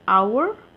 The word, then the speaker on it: hour: When the consonant h is silent, then what do we do? Example, an hour, an honor. You can see h is not pronounced here.